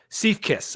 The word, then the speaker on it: Siefkes: Siefkes, as Sam nailed for the pronunciation, kicking off the bat.